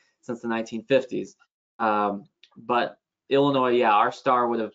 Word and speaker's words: Illinois: influence of the french is that why the s is silent yeah yeah um and you know of course illinois is the you know